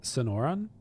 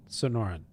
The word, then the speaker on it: Sonoran: Sonoran. Sonoran.